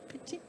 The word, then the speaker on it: Picchi: And last, but by no means least, we have, I hope I pronounce it correctly, Cristina Picchi. Picchi?